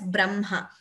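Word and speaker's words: ब्रह्म: very commonly used, where though we write it as Braha and Ma, we pronounce it as Brahma.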